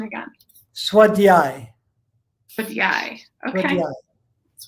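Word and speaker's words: svādhyāya: of my favorite ones okay so say the pronunciation again swat the eye for the eye okay that's why the yeah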